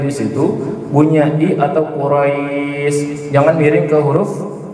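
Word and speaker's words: قريش: Li'ilafi Quraisy. Qaf, hati-hati huruf qaf. Qaf ya, bukan kaf.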